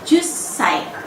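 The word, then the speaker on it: 十歳: Dan 10 tahun bunyi ju-nya itu panjang, ju. Tapi ketika diucapkan untuk usia menjadi jussai.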